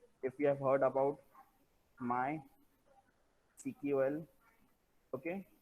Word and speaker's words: MySQL: If you have heard about my CQL, okay, many people call this as my SQL, but the pronunciation according to the industry point of view, so it is my CQL.